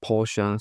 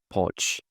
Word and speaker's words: Porsche: Some will say Porch. So what's the right way to pronounce it? Well, the right way to pronounce it is Porsche. Porche Porche, not Porsche. Some people tell you is Porsche. But no, in my opinion, I think Porsche is the American way to say it the right way.